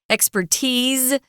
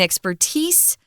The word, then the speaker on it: expertise: Just wanted to mention briefly, you'll hear two different pronunciations of this word, expertise and expertise. Both for the noun, they're both correct.